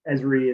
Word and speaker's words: Esri: uh when we teach with esri products yes esri is the way we pronounce it one of the largest software companies